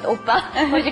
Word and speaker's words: Appa: Appa. Rhymes with oppa.